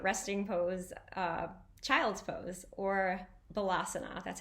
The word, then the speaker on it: Balasana: Today we're exploring many people's favorite resting pose, child's pose, or Balasana.